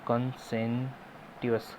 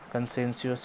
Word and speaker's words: conscientious: और कंसेंटियस, कंसेंटियस, कंसेंसियस ही होता है, इसकी टी साइलेंट होता है।